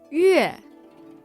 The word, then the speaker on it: yue: And that sound is Yue. Yue. Yue. Now in Pinyin that's spelled with a U with an umlaut over it and an E.